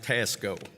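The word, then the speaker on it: T2ASCO: advisory Services Company or t2a sco LLC and that's pronounced Tasco he has 40 years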